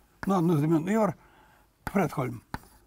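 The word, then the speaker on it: Fredholm: Вот шведский математик, ну, одну из имен, Йор Фредхольм. Ну, в классическом шведском ударение всегда на первом слоге.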